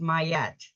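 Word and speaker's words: Maat: all golden and beautiful matat pronounced mayat is an ancient Egyptian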